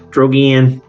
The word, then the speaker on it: Drogan: It's supposed to be like dragon. Drogan.